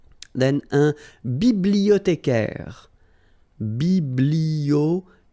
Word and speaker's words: bibliothécaire: Then un bibliothécaire. Bibliothé, remember in French the H doesn't exist, so you don't pronounce it.